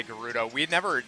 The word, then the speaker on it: Gerudo: I've actually had to train myself to say Gerudo. We had never said it out loud and I realized that everybody pronounced it a different way. I was always saying Gerudo.